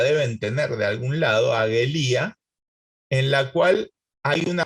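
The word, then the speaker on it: ἀγγελία: tener de algún lado, agelía, en la cual hay una doble gama. En la doble gama, en la pronunciación moderna, se clava una N antes de la G, angelía.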